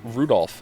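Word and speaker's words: Rudolf: on it's just anyway this guy's name is pronounced Rudolph haha he must hate grandfather for giving him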